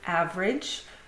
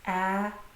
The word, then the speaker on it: average: But in fact, when we pronounce the word in speech it's not a-ve-rage but ave-rage. So the middle vowel sound or the middle syllable is dropped from the word completely.